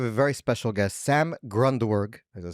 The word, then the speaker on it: Grundwerg: Today we have a very special guest, Sam Grundwerg.